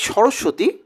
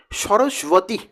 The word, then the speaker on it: সরস্বতী: তার যে নাম যেই সরস্বতী প্রকৃত উচ্চারণ হচ্ছে সরস্বতী তো আমরা ওইটিকে চলতি ভাষাতে কিন্তু সরস্বতী বলি তো এই সরস্বতী শব্দের